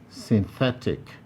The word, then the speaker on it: synthetic: the primary stress 17 synthetic synthetic this has three syllables as well stressed and therefore you can see it highlighted 18 specific specific three